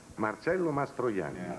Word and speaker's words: Marcello Mastroianni: commercial and how do you say your name Marcelo mastani that's sounds uh this is uh I guess